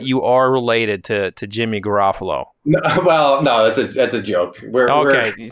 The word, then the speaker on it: Garafolo: I met his family, and see, he pronounces it Garofalo. Mm-hmm. I should pronounce it Garofalo. However, we got Americanized at some point, and it became Garofalo, and that's kind of what we go by.